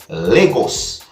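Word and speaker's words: Lagos: happened at a place that is known as legos no just in case if i don't get the pronunciation right i'm going to spell it you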